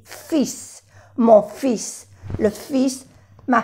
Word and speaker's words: fils: Y aquí se dice le fils, no se pronuncia la L. Porque si decimos fil, fil en francés es un hilo, un fil, un hilo. Entonces, no hay que pronunciar la L, perdón, pero la S sí, fils, mon fils, le fils, ma fille.